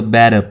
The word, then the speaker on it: better: Phía sau là make a better place. Better thì đọc là better theo tiếng Anh Mỹ.